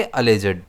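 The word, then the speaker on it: alleged: इसे हम प्रोनाउंस करेंगे अलेजर्ड। जिसमें स्ट्रेस जो है वह एल पर आएगा।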